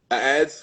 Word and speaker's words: adze: Um ads for folks who don't know ADZ pronounced ads like more than one ad is a woodworking tool.